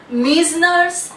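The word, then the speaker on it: Meissner's: Pronunciation is मीजनर्स nerve plexus, right.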